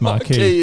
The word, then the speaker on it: Marquis: That I think you'll find that was the Marquis, which I think should be pronounced Marquis. Exactly. It is marquee, isn't it?